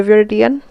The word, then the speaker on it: viridian: So what I want to do, I mix the viridian.